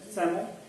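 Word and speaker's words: psammo: सैमो का मतलब सैंड होता है, पी साइलेंट है सैमो, पर सैमो नहीं बोलेंगे, तो ये सैम सैंड के ऊपर बायोटिक सक्शन है।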